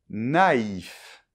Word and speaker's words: naïf: Eh bien en fait, ces deux points, il s’agit du tréma et ils empêchent justement la combinaison du A avec le I qui ferait le son [ɛ]. Donc je répète : NAÏF.